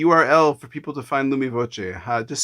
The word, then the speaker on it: Lumi Voce: give uh the url for people to find lumi voce uh just spell it out because uh people are listening yeah of course so lumifoche is actually italian meanings illuminating with sound direct